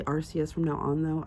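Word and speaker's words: Arceus: So, um, I played I finally got through most of Archus. I'm going to say Arus from now on, though. I do know it's supposed to be Archus. I hate that pronunciation, so I'm saying Arus.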